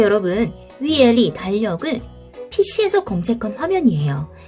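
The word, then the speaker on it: 月历: 중국어 발음, 한어 병음으로는 YUE 한번 여러분도 같이 한번 입력해보세요. 그리고 LI, 위엘리라고 합니다.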